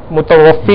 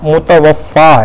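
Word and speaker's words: متوفّٰی: طور پہ کہتے ہیں متوفی کہتے ہیں نا، تو متوفی یہ لفظ جو ہے یہ تلفظ درست نہیں، صحیح جو درست تلفظ ہے وہ متوفا ہے۔ اب متوفی اور متوفا میں فرق کیا ہے؟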